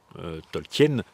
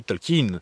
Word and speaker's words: Tolkien: Le nom Tolken, nous on prononce Tolken en français parce que on prononce comme ça se prononce en fait Tolkin en anglais c'est dû à ses origines germaniques. C'est quelque chose qu'il défend bec et ongle, on prononce comme ça tolkin et pas un espèce de tolkaine ou truc que bon